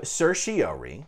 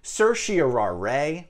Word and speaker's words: certiorari: i came across no less than seven different pronunciations we have certiori we have certio rai we have certiorari certiorari certiorari certiorari and certiararay